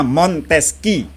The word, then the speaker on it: Montesquieu: Yuk jawab mantes pulang montesqiue dibacanya montesqieu ya montesqieu A selain itu selain